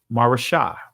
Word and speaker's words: Maresha: of 1,000 and 300 chariots, and came unto Maresha, right? Or Maresha, right? That's the ancient pronunciation of it.